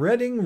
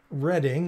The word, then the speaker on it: Reading: I have no idea why they decided to pronounce their town Reading instead of Reading for all the rest of us, but I'll have